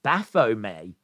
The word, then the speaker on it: Baphomet: here apparently this is Baphomet I think is how you pronounce it it is a deity